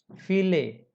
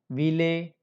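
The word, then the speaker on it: viele: तो फाउ, fox wagon, fear, फीले और फर स्टेहन. तो ये फर stand, not were stand, not वीले, नॉट वीर.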